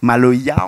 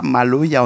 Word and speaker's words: Maloya: qui est malgache, hein, et le A ne se prononce pas en malgache. Maloya, on ne le dit pas Maloya, on dit Maloy.